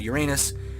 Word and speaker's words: Uranus: I like to pronounce the planet's name as Uranus, which is based off of the Greek counterpart of the Roman god Uranus, that Uranus was named after.